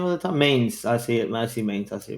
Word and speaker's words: Mainz: Mains. I see it. I see Mains. Yeah. But Yeah, it took me a second to find because it's pronounced Mons, but How do you spell Oh.